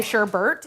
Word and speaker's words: sherbet: We're going to be making our sherbet now. Sherbet? It's spelled the way that people say sherbet, even though there's no R there.